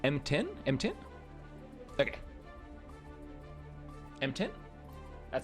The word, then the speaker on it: M_T1N: We've got How How is our Zato players name actually pronounced? Let me let me quickly check my cheat sheet if there's a like M10.